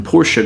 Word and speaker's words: Porsche: Maybe it's those sexy shark fin inlays or this sweet satin Porsche gray finish. Yes, that is how it's pronounced.